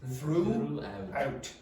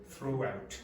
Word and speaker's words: throughout: Now, it's not throughout, it's throughout. No, if you listen to the Italians, very often they'll say out because there's a vowel sound here. Go like that. Throughout. Okay, so don't say throughout.